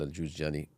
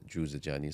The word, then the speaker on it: Juzjani: So his student Abu Sulaiman al-Juzjani, or Jawzjani, whichever way you pronounce it. So there's 2 dhabts of it. Some people have mentioned Juzjani, some people have mentioned Jawzjani.